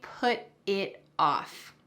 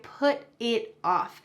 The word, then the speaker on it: put it off: I put it off. And when we pronounce this, the T at the end of put is going to change into a D sound in American English.